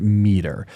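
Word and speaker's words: METR: That's often pronounced meter.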